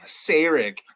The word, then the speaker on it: Sarek: I just want people to pronounce Sarek's name correctly. Sarek.